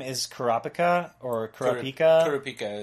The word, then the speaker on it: Kurapika: Kurapika is how they usually pronounce it.